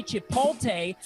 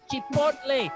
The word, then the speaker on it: chipotle: And please don't say Chipotle because it's Chipotle. It rhymes like the corn with mayonnaise.